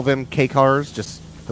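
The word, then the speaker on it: kei: I've only I mean, ever people heard it will pronounced. typically call them K cars, just the letter K dash car, but that comes from their name, K car, which is K-E-I.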